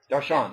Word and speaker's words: Darshan: And how I generally pronounce that is Darshan. Darshan, okay.